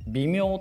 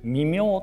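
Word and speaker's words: 微妙: 微妙とは読まずに微妙と読みます。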